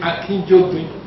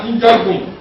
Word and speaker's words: Akinjide: Did you hear her pronounce the name Akinjide? It's not Akinjide, it's Akinjide. The late professor told me that the meaning of Akinjide that it's a drum.